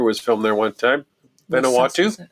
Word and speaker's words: Vanuatu: Vanuatu Vanuatu That's how you say it.